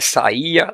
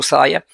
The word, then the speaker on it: saia: A palavra saia, a palavra saia não é saía, não tem acento saia.